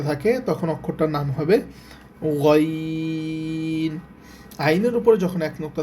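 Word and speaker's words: غين: আইনের উপরে যখন এক নুক্তা থাকে তখন অক্ষরটার নাম হবে গাইন।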